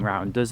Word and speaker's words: Rawanduz: We'll be visiting Rawanduz at some point too. Did I pronounce that correctly? Yeah, Rawanduz Canyon.